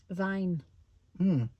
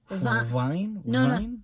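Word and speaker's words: Wein: like yeah yeah but you pronounce the W as a v Vine Vine Vine Vine Vine Vine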